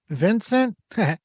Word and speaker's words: Vincent: Is it pronounced Vincent?